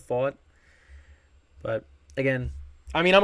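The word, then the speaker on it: Pfaadt: And I'm happy I'm now pronouncing his name right because I was saying Fad instead of Fought.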